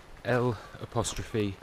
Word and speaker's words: Llofra: That pyramid, volcanic type looking peak is Puig Llofra. Very much doubt I pronounced that right. It's L'Ofre.